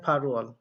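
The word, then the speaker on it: 팔월: কি একটু খেয়াল করেন আমরা শিখেছিলাম ফাল তার সাথে আছে ওয়াল উচ্চারণ হবে ফারু ওয়াল তাহলে একটু খেয়াল করে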